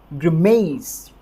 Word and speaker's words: grimace: की संबंध और जो स्ट्रेस हमें यहां पर देना है वो देना है एम वाली साउंड के ऊपर और जब मर्द वाली साउंड के ऊपर जब स्ट्रेस आएगा तो हमें इसे किस तरह से प्रोनाउंस करना है हिमेश ग्रिमेश जीआरएमईएस एक बार फिर से